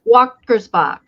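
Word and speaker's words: Wächtersbach: Wattersbach. It's kind of, you have to kind of like pause your tongue on your palate. I don't know how to describe it to you, but yeah.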